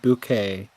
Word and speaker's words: Bucket: It's spelled bucket, but she wants everybody to pronounce it bouquet cuz like the whole